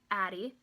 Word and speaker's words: Addie: sequence of speech so my name Addie has two syllables and you can kind of sound out where the syllables are Addie because you say